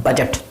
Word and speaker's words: budget: तो बजट में ये जो डी है वो जी के बिफोर है, इसलिए यहाँ पे हमने इस डी को साइलेंट किया है और इस डी को साइलेंट करके हम इसको पढ़ते हैं बजट।